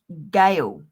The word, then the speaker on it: Gail: My real name, is actually Gail. Gail rhymes with snail, the whale, the big fat snail.